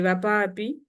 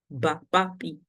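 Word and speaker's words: ŵapapi: So if I say Vapapi, meaning parents, Vapapi, WRPRPE, which is I in English. Vapapi, but you can also write BRPRPE, Bapapi. But when you see it, you don't read it Bapapi, you say Vapapi, because you know that that word is in place of W.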